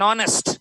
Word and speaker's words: honest: An honest, H is silent.